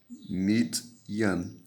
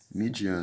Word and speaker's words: Midian: Midyan. Midian, né?